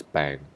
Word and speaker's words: 病: And radical number 55, I think this is, I just read as bang, right?